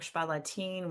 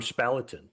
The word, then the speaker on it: Spalatin: well, I was calling him Spalatin. Well, no, that's actually closer to the German.